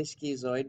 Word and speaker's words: Skizoid: But this is the Skizoid, and I say Skizoid because it's not spelled the way that the English would and pronounce it schizoid.